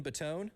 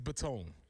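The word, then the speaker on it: Botone: And then we found out yesterday too, Evan Baton, I think is how you say it. No relation to Joey Baton. I've only read it, so I think it's Baton. B O T O N E from Marshall.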